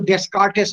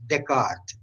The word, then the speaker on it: Descartes: এটা উচ্চারণকে কিন্তু ডেসকার্টেস করো না, স্টুডেন্টসদের বলছি, D-E-S-C-A-R-T-E-S, Descartes. Descartes একটা বই লিখেছিল, Traite de monde et la lumière, the nature of the light of the world.